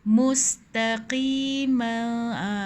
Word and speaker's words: مُسْتَقِيمًا: Sirati mustaqima. Mus nipis sin. Ta nipis. Qi tebal sikit. qi tapi jangan tertolak sangat qi dalam sangat tapi dia qi dia ada beza lah dengan kaf yang ki tu macam tu.